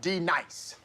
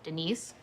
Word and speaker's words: D-Nice: Now, D nice. Do you mean Denise? Son of a bitch! You say your name right now. Denise? Say it right. Denise. Correctly. Denise. Right. Denise. Right. D-nice. That's better.